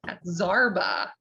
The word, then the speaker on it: Zarba: And is it Zarba. Zarba? I should have asked you all right before we went live. This is better. It's great. Just for pronunciation, but Zarba.